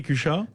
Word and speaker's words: Cuxa: Comment ça s'écrit, Cuxa ? C-U-X-A, il faut dire prononcer à la catalane.